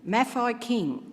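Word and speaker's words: Mafeking: history I was wondering Mafi King apparently is how you pronounce the name Mafi King Hill Ma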